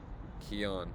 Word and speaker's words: Kian: All right, so we got Kian, who says Kian is pronounced like Keanu without the U sound. So I got it, right? Keanu. Kian.